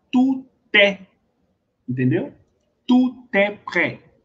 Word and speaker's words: prêt: tudo eu leio é, aqui pré, eu não leio esse T, beleza? Aí quando eu vou fazer a liaison é entre esse T e com esse é, fica tu té, entendeu? Tu té pré, ó.